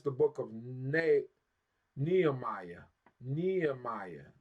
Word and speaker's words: Nehemiah: book of NE Nehemiah Nehemiah that's how we said in English Nehemiah NE right which